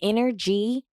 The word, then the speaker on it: InnerG: It's inner G, but it's spelled inner, INNERG, because my energy is